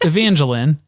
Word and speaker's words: Evangeline: And Janelle just sort of said Evangeline. Well, she mispronounces it first, but then she gets it right after a couple of tries. So it's Evangeline.